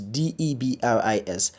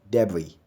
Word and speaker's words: debris: the one that has the e it's you pronounces Debu tongues the next word on the lists de B R is debris or debris not nervous then we have PLU